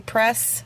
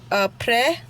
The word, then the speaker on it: après: I'm still planning on doing the après gel hack, which is, a lot of people call it a press system, but it is a après. That's how they say it in French.